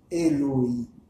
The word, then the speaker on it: Eloi: Qui s'écrit Eloi, mais qui se prononce Eloï.